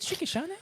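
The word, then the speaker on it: Shicki Shanae: Is it Shikishane? Is it how you pronounce it?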